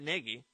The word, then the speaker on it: Nagy: It's an idea that Nagy, is that how you say it? Yeah, Matt Nagy.